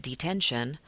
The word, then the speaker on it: detention: So if I look at detention, I put that stress on that middle syllable, that 10. It's detention. It's not detention or detention.